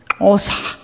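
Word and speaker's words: Xhosa: 하고 나머지 12년은 이제이 오사 종족이라고이 X 단어 X 스펠링이 들어가면 이렇게 발음을 하셔야 돼요. 오사 그래서 어 하나님이 우티예요.이 이 혀을 여러분 한번 해 보시겠습니까?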